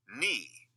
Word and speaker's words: knee: A silent K comes in front of N.